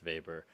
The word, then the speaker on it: Weber: and it's it pronounced uh i think it's pronounced vapor uh and basically it talks about the protestant